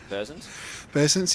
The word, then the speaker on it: Burtsons: Riley Burtsons, I think that's how you say his name, is it? Bursons, yep. Yeah, good, actually good pick.